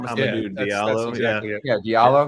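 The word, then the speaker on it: Hamidou Diallo: Hamadou Diallo, that's exactly it.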